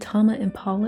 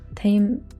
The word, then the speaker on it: Tame Impala: talk about one of is it tama impala is how you say his name tame i want you to